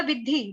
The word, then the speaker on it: विद्धि: उसके बाद है विद्धि। विधि आसान है आपके लिए बोलना, विद्धि, विद्धि।